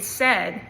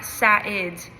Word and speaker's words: said: So like the ai in said kind of equals that that e sound. So it if you trying to pronounce it phonetically kind of looks like like sat satid satid but it's said.